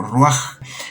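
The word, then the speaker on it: רוח: En algunos casos se pone la H al final, en otros casos la J, porque se pronuncia como ruaj.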